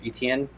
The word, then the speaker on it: Etienne: I don't know how to pronounce that last name either. Etienne.